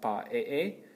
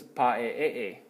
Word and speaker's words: pa'e'e: if you will, is I lengthen the first vowel, so I have pa'e'e, and then the lengthening this vowel also has a double accented syllable in this version, okay?